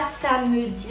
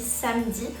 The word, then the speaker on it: samedi: Par exemple dans la dans le mot samedi, on dit pas samedi, on dit samedi parce que vous avez donc avant le e un M une consonne donc qui se prononce.